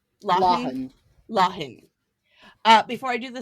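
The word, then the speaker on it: Lawhon: Lahun.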